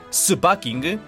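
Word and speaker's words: スパーキング: Pero por otra parte, la pronunciación japonesa de Sparking, Supaking, también se puede leer como Supaking o Super King.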